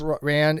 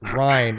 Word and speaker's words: Rhine: Yeah, Princess Ryan. It's pronounced Rhine, like Rhineland. Oh, I'm sorry, Rhine.